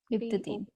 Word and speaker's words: Leptotene: Prophase 1 में सबसे पहला कौन सा है, लिपोटीन। Spelling, LEPTOTENE। LEP, लिप्टोटीन, ठीक है।